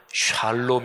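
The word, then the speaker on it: שלום: 하셨습니다 평안한 야 평안이 있을 지어다 히브리 5 발음으로 하면 샬롬 이라고 얘기할 수 있구요 하나님께서 사람들에게 주신 가장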